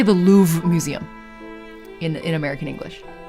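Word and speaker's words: Louvre: We literally say the louv museum in in American English. We don't pronounce the re e like at all. It's just louv. There's like a breath at the end and that's it.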